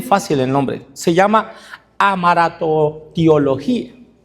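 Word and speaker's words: hamartiología: Les voy a decir, es bien fácil el nombre, se llama amaratotiología. Amaratiología se llama, suena como trabalenguas. Se escribe h a m a r t i o l o g i a.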